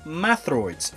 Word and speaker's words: Metroid: such as Metroid, which means Ultimate Warrior, but it's pronounced as Mathroids in Chozo.